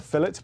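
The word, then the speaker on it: fillet: 175 G also yes we call this a fet burger not a filet burger that extra l in there when we spell it makes a difference what about fries well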